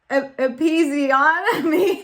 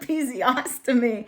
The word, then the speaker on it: episiotomy: Wait, but episiotomy, not episiostomy.